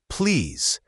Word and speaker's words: please: The word please should have a clear Z sound at the end, not an S. Please give it a try.